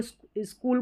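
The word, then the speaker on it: school: अब इसको स्कूल को हम स्कूल सी एच को क ही पढ़ेंगे। च नहीं पढ़ सकते।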